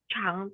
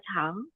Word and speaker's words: 长: Untuk kata ini ya Jetro, dia itu ada dua cara bacanya. Dia bisa dibaca chang. Kalau dibaca chang itu dia yang artinya panjang. Kalau dia yang sebagai verb itu bacanya tuh chang, yang artinya itu tumbuh.